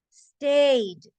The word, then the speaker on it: stayed: Stayed. Suena solo una D.